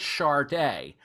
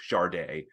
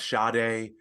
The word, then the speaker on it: Sade: her own name certainly Adu produces pronounces her name charde right it seems like over time they have kind of capitulated to the American pronunciation of shade which is I think technically incorrect but if you say